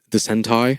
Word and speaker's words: Decenty: Yeah, it's just like the Sentai.